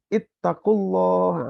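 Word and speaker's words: اتقوا الله: Jadi kalau dibacanya berhenti, ya ayyuhallazina amanu gitu ya. Maka dimulainya dengan ittaqullah.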